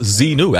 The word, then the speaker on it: Xenu: Xenu pronounced Zenu.